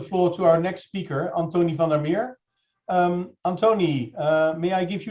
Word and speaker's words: Anthony van der Meer: Yeah, my name is Antony van der Meer, Antony van der Meer, and that's how you say it in Dutch.